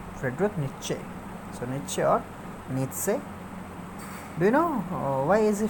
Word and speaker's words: Nietzsche: a third rich Friedrich Nietzsche so make sure needs say you know why is he famous he's famous